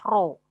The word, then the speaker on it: rho: Ini dibacanya adalah rho gitu ya. Dibacanya row gitu.